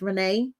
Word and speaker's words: Rayne: from the moment Renee whose name is spelled rain but pronounced Renee popped up on my